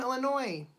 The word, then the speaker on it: Illinois: be weird hello from Illinois you don't pronounce the S right Illinois's that would